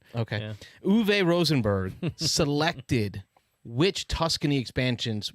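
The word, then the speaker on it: Uwe: to pronounce that okay is it the w is a more like a v is it like a v yeah german okay uv rosenberg selected which tuscany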